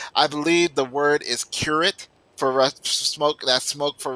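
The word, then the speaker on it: курить: believe the word is curate for smoke. That smoke for Russian is curate. So nobody wants none of that. Anyway, all right, yeah, but you got to pronounce it the Russian way, kurit.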